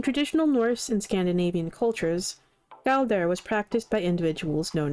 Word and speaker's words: Galdr: Galder was apparently how it's pronounced.